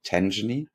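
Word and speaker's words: Tangany: the crypto custody fintech Tangy you interviewed them is that how you pronounce it tenen yes exactly I I I always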